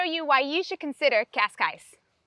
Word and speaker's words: Cascais: of the pronunciation so in english cascais is perfectly normal that's how you would say it if you're trying to learn portuguese then you've got to get that je that show sound so it's kashkaish while